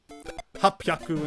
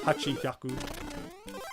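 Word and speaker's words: 八百: Sometimes Japanese, you know, letters go together, or rather, syllables go together like that. So sanbyaku instead of sanhyaku. Hapyaku instead of hachihyaku.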